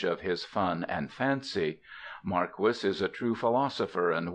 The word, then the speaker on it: Marquis: a real name not a pseudonym it is pronounced Maris not Marquee I reprint here two of Mr marquis's amiable